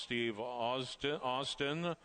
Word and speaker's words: Steve Austin: The name of the one horse is pronounced Steve Austin.